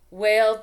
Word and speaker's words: whale: next one moose Goose whale tail the hard thing with the whale has got the silent h so sometimes it gets